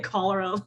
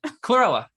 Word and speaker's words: chlorella: No, I was going to say cholera, the infectious disease. I'm saying it wrong. The little green, Chlorella.